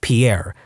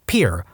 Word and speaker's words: Pierre: South Dakota Pier wrong she kept saying Pierre two syllables like the French name and he said it was pure one syllable like what'd you fish off of